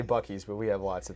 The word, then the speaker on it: Buc-ee's: Anyway, if you don't know, Buc-ee is spelled really weird and it looks like Bousset.